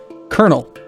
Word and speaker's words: colonel: pronounce that word, and I know that the Americanized or the American pronunciation of it is colonel. How and why, I don't know, but it's very clearly colonel. It's C-O-L-O-N-E-L, colonel. But we bastardized it into colonel.